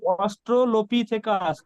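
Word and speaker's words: Australopithecus: মানে যখন মুখস্ত করছিলাম উচ্চারণটা হচ্ছিল না আচ্ছা উচ্চারণটা এভাবে অষ্টলোপি থেকাস অষ্টলোপিস থেকে ঠিক আছে আচ্ছা তারপরে প্রশ্ন চলে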